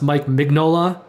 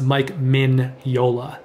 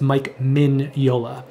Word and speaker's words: Mike Mignola: a lot of people think his name is pronounced mike mignola but they're wrong it's actually pronounced mike min yola that's how you pronounce his name i think